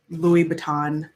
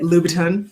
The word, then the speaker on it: Louboutin: um and i bought my first pair of louis vuitton is that how you say it louboutin shoes and they were like 800 and i